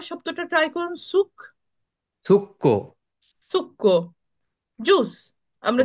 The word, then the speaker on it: succo: succo, সুক্কো, juice. আমরা যে juice oh, খাই আমরা বলি যে জি, সুক্কো, সুক্কো দি ফ্রুত্তা বলি, ঠিক না? জি, ফ্রুত্তা তো আমাদের একটা যুক্ত অক্ষর আছে, বলুন তো। আচ্ছা, সুক্কোটা বানান তো, এখানে লিখে আছে, তাও আমাকে আবার